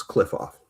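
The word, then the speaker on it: Qliphoth: Yeah, it's like Q Q U Q L I P H O T H. It's cliff off. Oh, okay. Found it. So the cliff off, when I looked it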